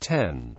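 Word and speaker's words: 点: always scented horizontally is the Japanese word for DOT is pronounced 10 the dots are colloquially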